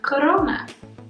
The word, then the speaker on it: corona: a crown necesita wanna corona like exactly like corona virus okay numero tres if